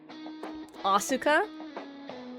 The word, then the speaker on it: Asuka: Osuka. That's how you pronounce Asuka. That like how you pronounce it like Japanese.